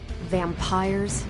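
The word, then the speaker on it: vampyres: do not you already said they were vampires vampires with a Y pronounce Ed exactly the same as vampires I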